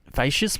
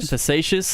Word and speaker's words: Facetious: Irish Millie, Werris Bale, Passmark, Lakeview Nola, Black Silencer, Utrillo Bale, Facious, what was the pronunciation? Facetious. Yeah. Shows the quality of my English.